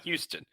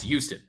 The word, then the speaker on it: Houston: You were also in New York City, where Houston is not Houston. It's with a Y. It's Houston.